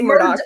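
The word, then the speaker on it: Murdaugh: Some say Murdoch. Yeah, it's pronounced Murdoch, but it's not spelled that way.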